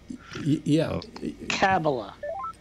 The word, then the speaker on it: Kamala: And the Mila Harris. So. Kamala. Why do you keep, stop mispronouncing.